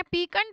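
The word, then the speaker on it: piquant: पीकं वर्ड पढ़ा था अब पीकं वर्ड का मतलब है पी आई क्यू यू ए एन टी इसकी स्पेलिंग है पीकं होता है एक ऐसा शार्प टेस्ट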